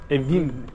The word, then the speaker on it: evim: Evim. You say Evim. Evim. Evim. Evim. Evim. Evim. Evim. Ne. Like your house.